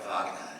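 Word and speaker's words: Wagner: Vagner, do you spell your name with a V? I knew I should have seen it. This is Fagner spelled with a W, pronounced with a V.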